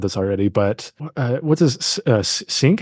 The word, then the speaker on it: Cinque: One thing I'll mention, I don't think we said this already, but what's his Sink? How do you say his name? It's Cinque.